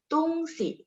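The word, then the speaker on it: 东西: Tungsi, nada 5 si-nya itu jadinya artinya barang.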